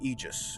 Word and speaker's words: Aegis: the campaign missions you can only use the Aegis which is how they pronounce in the game you can't use the